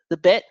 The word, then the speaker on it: Bet: So next is the bet, the letter bet. You could spell it B-E-T, right? Bet. That does not mean Black Entertainment Television. Bet. And it's b as in boy.